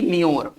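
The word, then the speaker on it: demure: ठीक है ना, ये डीमर वर्ब है, इसका उच्चारण करेंगे डीमर, इसका उच्चारण करेंगे डिम्योर।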